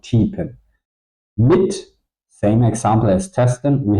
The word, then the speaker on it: mit: I do not pronounce ten or meat. I pronounce tippen mit.